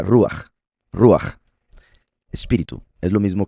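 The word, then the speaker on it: רוח: En hebreo, la palabra que se ha traducido al español como espíritu se pronuncia ruach.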